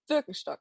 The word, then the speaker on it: Birkenstock: And then two very, very German ones, Jack Wolfskin and Birkenstock, or Birkenstock, if you want to pronounce it how it was intended.